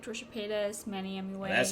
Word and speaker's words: Manny MUA: out of drama, but also like Trisha Paytas, Manny MUA.